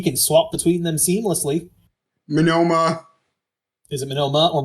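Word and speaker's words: Monoma: can tell he can swap between them seamlessly minoma is it manila or mono whatever nitominoma m-o-n-o-m-a i'm sorry man minoru menoma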